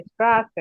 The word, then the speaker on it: Straße: স্টেটের স্ট্রাসে। উচ্চারণ কিসের মতো হবে? ছয়ের মতো হবে, স্ট্রাসে।